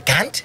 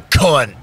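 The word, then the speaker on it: cunt: it too they're like they're like a kant and we're like a con yeah do people even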